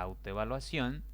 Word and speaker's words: autoevaluación: Si ustedes hacen la verificación, descubrirán que en esta palabra la mayor intensidad cae en ción, en la última sílaba. Por lo tanto, esa sílaba es tónica. Las otras 5 sílabas que conforman la palabra autoevaluación son átonas.